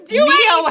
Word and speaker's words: Neo: Neo rhymes with hero.